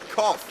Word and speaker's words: cough: Okay, this word again, same letter combinations, but this time is pronounced cough, as in I just coughed.